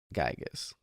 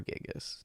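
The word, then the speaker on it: Giygas: andonuts Pokey Minch and gigas or gigas depending on how you like to pronounce it I pronounce the Y personally um his name has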